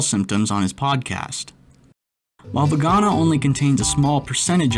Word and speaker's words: Voacanga: Voacanga, actually pronounced vegana, has an effect that